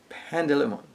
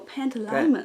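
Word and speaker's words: Pantalaimon: Coulter has her demon grab Lyra's demon Pandalimon. Well, Pantalimon.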